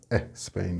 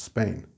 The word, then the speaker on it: Spain: It's not Spain, of course, it's Spain. There's no sound.